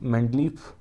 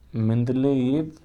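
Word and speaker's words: Менделеев: सबसे पहले रूसी रसायन शास्त्री मेंडलीफ, सही उच्चारण का मेंदलेयेव ने सन 1869 में आवर्त नियम प्रस्तुत किया और तत्वों को एक सारणी के रूप में प्रस्तुत किया था।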